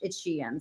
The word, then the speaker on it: Shein: We learned how to pronounce Shein. I think we did. You know, Cramer and Jassy confirmed it's Shein.